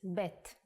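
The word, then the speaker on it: ב: good let's move on the second character is BET The Sound of pet is ba and it looks like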